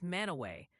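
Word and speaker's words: Mantua: And the new fan favorite correction is that Manua Port Ohio is mana away.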